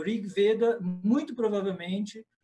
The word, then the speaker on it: Veda: A pronúncia é veda. Em português, veda, mas em sânscrito, veda. Com o e fechado.